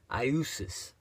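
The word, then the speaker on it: Iesus: It was like I-E-S-U-S, pronounced something like Iusis. But the letter J wasn't pronounced like that back then.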